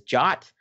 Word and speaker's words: JWT: token or a jwt you might hear them pronounced as jot i personally just like to say jwt but you'll hear them